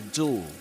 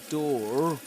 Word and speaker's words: door: So you say the door. The door. He shot the door quickly. The door. And you don't pronounce the letter R at the end of door.